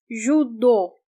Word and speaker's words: judô: Judô, judô. This part is stressed. That's why we do not pronounce O as the vowel U, because it's stressed.